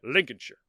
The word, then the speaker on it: Lincolnshire: just see a the the Shire at the end of a word it's pronounced sure you just think of New Hampshire so it's Lincolnshire anyway she was born